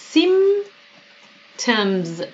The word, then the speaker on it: symptoms: Do you know what the symptoms؟ دقت کنید که اسم جمع باید بدیم. چرا؟ چون گفته of flu are و این وسط هم یه پی داره که تلفظ نمیشه. نمیگیم symptoms.